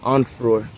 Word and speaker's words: Onfroy: Onfroy.